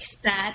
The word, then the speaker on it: Saad: That in US, you would pronounce it like sadness, but it actually means happiness.